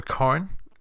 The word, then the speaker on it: Cairn: And it just so happens in a game called Cairn, or Cairn, as people pronounce it.